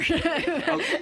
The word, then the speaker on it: Cherbourg: It's called The Umbrellas of Cherbourg, or however you say that. I'm not quite sure. What do you say over there? Cherbourg, you said it right.